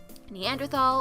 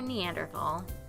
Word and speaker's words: Neanderthal: is it a preference a preference and there's no h sound when it's pronounced in french fair and german it's something that i picked up when i started working in europe however both are accepted